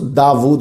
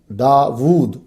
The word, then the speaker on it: داود: اسم داود قرآن مجید میں 16 مرتبہ آیا ہے۔ اس کا تلفظ داود ہے، ہم داود بھی کہتے ہیں، وا الٹا پیش وو، داود۔ یہ اسم جو ہے